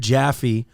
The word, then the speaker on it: Jaffe: So, Jaffe, personal injury attorney, also a medic, also a motorcycle rider, right here in Long Island.